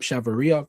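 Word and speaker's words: Chavarría: Chelsea are in a club-to-club talks with Rayo Vallecano for Chavaria, Pep Chavaria. That's how you say his name.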